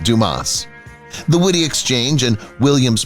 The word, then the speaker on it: Dumas: The ad featured actor Stu Williams, who portrayed a polite employee correcting a customer who mispronounced his name as Dumbass instead of Dumas.